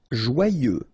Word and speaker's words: joyeux: Joyeux. Final X not pronounced, and then joyeux.